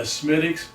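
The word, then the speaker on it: Smithwick's: If I've been drinking uh a Smidix, he probably would have been smacking his lips going, "Oh man, I missed that."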